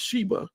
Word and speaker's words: Saba: going on in the land of saba which is pronounced Sheba if you look at